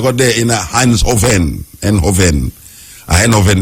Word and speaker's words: Eindhoven: Eindhoven, them pronounce it now, yeah. E-I-N-D-H-O-V-N, Eindhoven.